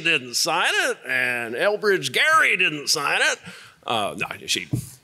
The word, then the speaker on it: Gerry: to know that about the Gary they said Eldridge Jerry you know she thinks she's heard gerrymandering so many times she mispronounces his name so so one question